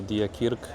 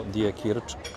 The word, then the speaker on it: Diekirch: Nie wiem jak to się wymawia. Albo Die Kirk, albo Die Kirch. Tak sądzę przynajmniej.